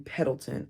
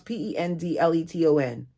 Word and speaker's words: Pendleton: In the early morning hours, we arrived in Pedleton. Am I saying that right, Alexa? How do you pronounce P E N D L E T O N?